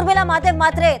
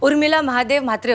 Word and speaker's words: Urmila Mahadev Mhatre: Do you hear me, Urmila Mahadev Mhatre? I'm talking to you. - Yes, I can hear you. It's Urmila Mahadev Mhatre. Say my name properly.